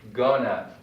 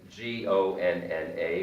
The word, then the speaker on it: gonna: has its own pronunciation most english speakers say gona they combine these two words and they say now never write g-o-n-n-a because it's not a